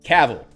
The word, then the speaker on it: Cavill: I'm getting a correction on the pronunciation of Cavill out of band, saying that Cavill is pronounced like travel. So replace the TR with a C.